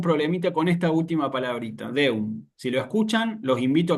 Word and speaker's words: Deum: Y en el caso de Deum, Deum.